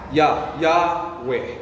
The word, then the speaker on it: Yahweh: Even your breath, inhale or exhale. Oh. Yahweh.